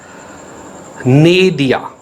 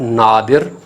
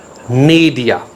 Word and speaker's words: nadir: Its pronunciation is, correct pronunciation is Nadir. It's not Nadir, it's Nadir.